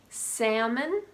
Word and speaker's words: salmon: Half, salmon, would, could, and should.